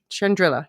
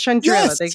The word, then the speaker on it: Chandrila: line and Shandril Shand Shandrilla. Yeah. Yeah, they were pronouncing Shandril. Yeah, but no, it's Shandrilla.